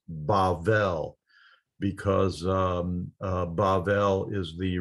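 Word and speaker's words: בבל: from and we think babel it's it's kind of an english word that means uh confused speech but that's where that idea comes from in hebrew it's pronounced bavel because um bavel is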